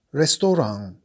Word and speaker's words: Restaurant: Ristorante si scrive e si pronuncia come in francese. Restaurant.